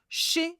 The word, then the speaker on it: chez: Again, it's pronounced with like this, chez moi. I've underlined the Z of chez because you do not pronounce the Z at the end. It's pronounced like a E sound again.